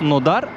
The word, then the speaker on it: Krasnodar: I swear, there is a wonderful weather today in Krasnodar. It is written as kras nodar, but I noticed the Russians here pronounce it as kras nadar.